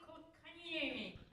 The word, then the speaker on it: Kotkaniemi: The Goat Ropers select Jesperi Kotkaniemi. Kokanyami. I think they're just excited that she pronounced it properly.